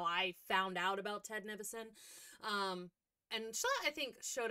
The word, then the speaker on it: Nivison: Okay, that's how you say his name. I said, what did I say? Nivision or something? I said it wrong. Whatever I said was incorrect. Nivison.